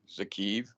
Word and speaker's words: Kyiv: him and walking in Kyiv, in the capital. It's pronounced Kyiv, I'm sorry, not Kyiv.